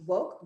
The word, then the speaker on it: WOCC: of color in cannabis wocc pronounced woke wlke and if you're